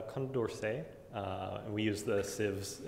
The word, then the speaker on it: Condorcet: I can't even pronounce Concorsage. I pronounced it, so it's Condorcet.